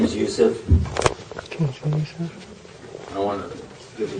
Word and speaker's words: Yusuf: background yeah first of all my name is Yusuf I want to give you a chance to